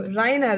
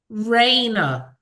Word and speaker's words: Rayna: it's really nice meeting you Rina right Raina Raina okay Raina Raina yes yeah it's um so